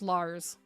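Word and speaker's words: Larz: So it's Lars, but it reads like Liz, but it's pronounced Lars.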